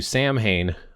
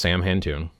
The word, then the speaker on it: Samhain: For example, if you're saying, well, I do Samhain on October 31st, even though traditionally it's pronounced sah-win, it's done on November 1st.